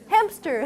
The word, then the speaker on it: hamster: quickly hamster hamster hamster do you feel there's a p in there yes hamster hamster so people tend to misspell the word within a p because you're you're inserting a p in the pronunciation oh you i should